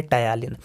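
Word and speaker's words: ptyalin: का दूसरा नाम है टायलिन, पहला जिस पे पी साइलेंट रहता है, ठीक है।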